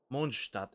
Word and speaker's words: Mondstadt: Mondstadt, actually, if you would properly pronounce it, but okay.